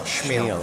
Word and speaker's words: Chmiel: Is that how it's pronounced? Chmiel? Chmiel.